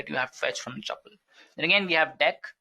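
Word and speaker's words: deque: then again we have deck which is pronounced as Dex even if it's written as D qu e is basically an optimized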